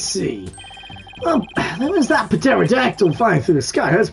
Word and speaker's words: pterodactyl: Well, there was that pterodactyl flying through the sky.